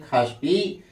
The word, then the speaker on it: षष्ठी: इसीलिए लिखे हैं षष्ठी पढ़ते हैं खष्टि।